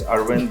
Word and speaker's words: Arvind: National Digital Commerce Platform, Arvind. I hope I said it well. No, thank you, Simone and Shruti, for having me. Yes, you called my name correct. It's Arvind, but in a boundaryless